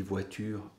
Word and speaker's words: voiture: Alors, par exemple, voiture, habituellement, effectivement, on dit voiture à l'oral en 2 syllabes, mais les syllabes écrites